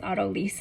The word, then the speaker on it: autolyse: It looks like autolyse, but it's autolyse is how you pronounce it.